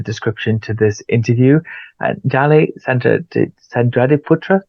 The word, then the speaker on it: Dally Sandradiputra: And Dali Sandradiputra, did I say it right? Yes, you're right, I Andy.